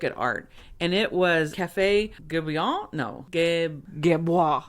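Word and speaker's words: Café Guerbois: Guébois. Café Guébois. Café Guébois. You gotta throw your head back a little. Guébois. Give it some French attitude. Yeah, Guébois. Guébois. Guébois. So, yes, the S is silent.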